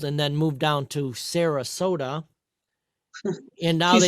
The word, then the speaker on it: Sarasota: Saratoga. Saratoga, is that Georgia? Maybe I'm saying it wrong. What's an S? Sarasota? Sarasota.